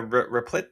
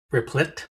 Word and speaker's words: Replit: Same thing with the uh Replet thing. Replicit. Replit. I can't even pronounce their their company name. They've got millions of apps, too. Replit. Yeah, I don't remember.